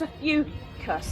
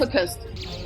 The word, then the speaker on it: Ophiuchus: I said, is it pronounced a fucus? I said, is it a fucus? And they said, Ophiuchus.